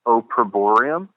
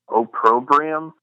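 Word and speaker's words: Opprobrium: this band I believe their name is pronounced oorum or oium it's hard to it's o p p r o b r i u m and uh they had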